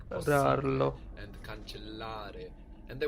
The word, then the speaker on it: possibile: We are actually pronouncing both of these S's.